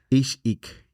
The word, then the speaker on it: Ix-Ik: Okay, so the pillars for your company, which is the pronunciation sometimes you got this. But it's health and wellness, Ix-Ik.